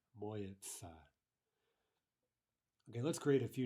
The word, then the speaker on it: моется: Now again, look at the pronunciation моется, моется.